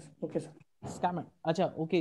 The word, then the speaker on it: Schmidt: Schmidt. Okay, sir. Schmidt. Acha, okay. You are actually you're not pronouncing S.